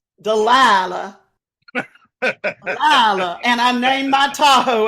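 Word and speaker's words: Dalila: and one way another how do you pronounce d a l i l a dilaa and I named my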